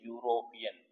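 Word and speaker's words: European: बट her husband इ यूरोपियन अब इसकी जो साउंड आ रही है वो आ रही है यूरोपियन कनसो नेंट साउंड कंसोनेंट साउंड क्या आ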